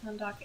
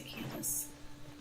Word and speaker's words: Kandake: I saw someone pronounce it Kandake, and I wasn't sure if that was like proper or if it was just like people saying Shinkui. I'll just say Candace.